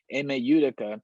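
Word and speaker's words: Ime Udoka: email utica um you i'm sorry i said his name wrong is imeidaka yudaka yudhika there we go emma utica he signed the deal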